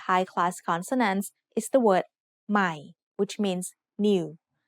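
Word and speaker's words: ใหม่: Be careful when reading this word. Notice that there is an initial consonant cluster formed by a silent letter ห อ ห ี บ followed by ม อ ม ้ า This means the word will start with the initial sound m of ม อ ม ้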